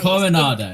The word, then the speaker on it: Coronado: Coronado.